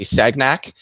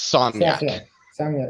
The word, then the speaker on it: Sagnac: physics on this because they all say sagnac the guy was French his name was Sonia it doesn't matter how pronunciation it no no it does it's like it's like saying it's like it's like it's like calling the drink a cognac okay if you don't